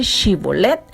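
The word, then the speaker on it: Shibboleth: a pronunciar la palabra chibolet dice la historia dice la lectura que ellos no podían pronunciar la H Entonces no podían decir chibolette y su origen el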